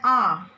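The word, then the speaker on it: hour: But here an R. H is a consonant, but we say H because H is silent here.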